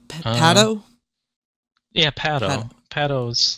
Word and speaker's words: Patto: Patto's like from like 70 to 73. I don't know why I forgot how to pronounce that for a second.